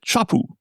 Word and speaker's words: Sharp: And did you know in Japan they pronounce it shapu?